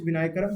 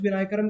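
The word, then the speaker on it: Vinayakram: विनायकरम का ही पूरा नाम है थेट्टाकुट्टी, थेट्टाकुट्टी हरिहर विनायक राम, विनायक राम, ठीक है, विनायकरम नहीं, सॉरी प्रोनाउंसिएशन के लिए, विनायक राम।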